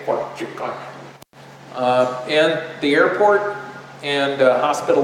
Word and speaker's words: Fort Yukon: And this is Fort Yukon, or as the locals say, Fort Yukon.